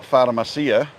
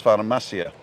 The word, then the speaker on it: farmacia: And if there's no accent on the word, it is the second to the last syllable. Right. Yeah? So it's never the last syllable unless there's an accent on it. It's Yeah. always the second to the last. So it's not farmacia, it's farmacia. Farmacia.